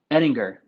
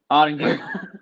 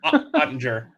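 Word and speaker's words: Oettinger: Ettinger. Ottinger. Ottinger.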